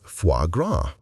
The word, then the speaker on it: foie gras: And yes, it's pronounced foie gras.